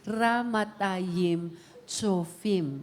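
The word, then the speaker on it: Ramathaim-Zophim: The right pronunciation is ramatayim chofim.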